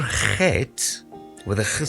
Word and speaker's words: Chet: Now, a Chet is basically pronounced as ch. I found that a lot of cultures actually struggle to pronounce the ch sound. Afrikaans people and Germanic people actually get the ch sound very easily.